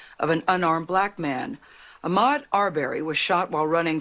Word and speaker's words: Ahmaud: you all help me because I'm terrible at pronunciation of names. Ahmaud is how his name is pronounced, unfortunately.